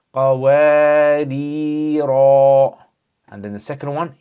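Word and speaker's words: قواريرا: So this one, when you stop, you're going to say qawarira. And then the second one, you don't pronounce it with the alif.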